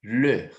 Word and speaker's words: leur: Leur. D'accord? Lembra lá quando a gente fala professor, aquele sufixo EUR? Professeur. Então, você vai pronunciar o mesmo sufixozinho lá, tá? Um sonzinho de er com um biquinho, ler. Com um biquinho, leur. Ou você pode falá-lo assim, ler com biquinho, leur.